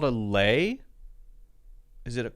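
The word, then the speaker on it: lei: called a lay oh it is a lay okay I was right l-e-i okay I thought so grabbed a lay from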